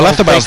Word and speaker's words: Oyarzabal: You think I pronounced that wrong? Yeah. No, Oyarzabal the golfer.